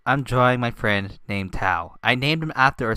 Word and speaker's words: Thao: But yeah, this is Thao. You spell it Thao. It's not Teo.